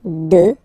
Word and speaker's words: deux: Deux. Final X not pronounced, okay? Deux.